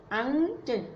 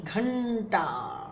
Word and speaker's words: घंटा: अब ये क्या होगा, घंटा, अंट नहीं, घंटा, ला है घंटा।